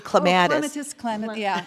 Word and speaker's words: clematis: And then this one here, well, you pronounce it different than I do. I say clematis.